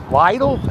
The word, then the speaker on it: Lidl: And then if you go down the block a little bit, there's another store called Lidl. It's called Lidl.